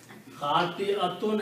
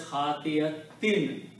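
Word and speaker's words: خَاطِئَةٍ: And one of the most basic rules is that however the noun is pronounced, sifat is pronounced the same way.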